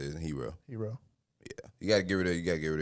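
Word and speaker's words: Herro: Hero.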